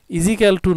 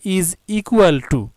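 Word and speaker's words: is equal to: পরে দেখলাম যে না, আসলে স্যারেরা বললেন যে ইজিক্যাল টু নয়, তোমরা বলবে ইজ ইকুয়াল টু।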